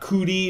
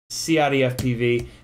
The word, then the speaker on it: CiottiFPV: Not just Ciotti. Not just. Not Cootie. Not. Not Coyote. CiottiFPV.